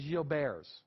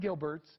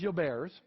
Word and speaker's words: Gilbert: french physician all right the correct pronunciation is you'll bears it is not gilbert's it is your bears this is in two